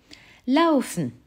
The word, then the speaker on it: laufen: Laufen. Tu entends AO, qui s'écrit A et OU, forcément.